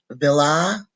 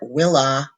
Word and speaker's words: villa: Villa, villi, or willa, willi. It does not matter if you pronounce the V as a V or a W as long as you do it the same all the time.